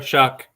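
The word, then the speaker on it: Shough: Do you say that name? Tyler Shuck. Shuck? That's how you say it?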